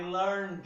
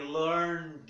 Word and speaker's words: learned: Por sua via, não pronunciamos o E. I learned it. I learned it.